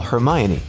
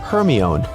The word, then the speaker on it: Hermione: Call Hermione only for Siri to comply with calling Herion.